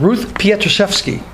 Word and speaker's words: Ruth Pietruszewski: We have Ruth Pietruszewski, otherwise known to everyone as. Did I pronounce that right, Ruth?